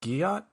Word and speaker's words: gyat: I've heard the term Giat is a thing. Is that a new Like thing? Is that GYAT? a- Yeah, I think Yes. I think it's like one long syllable. It's just Jot.